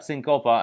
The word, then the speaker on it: Cincope: go he ends up is it do i pronounce it chincopa or syncopa okay perfect so he heads up syncopa and i'm going to go through the the